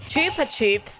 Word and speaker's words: Chupa Chups: Chupa Chups, that's how I know it's pronounced.